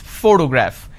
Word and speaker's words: photograph: this particular word photograph the correct pronunciation is photograph which means i'm stressing on this particular syllable which is the first syllable please give me the